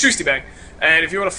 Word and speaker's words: ShustyBang: It is SHUSTYBANG. A lot of people pronounce it Shustybang. It is indeed Shustybang. It's actually supposed to be a U with the 2 little dots above it, but you can't type it.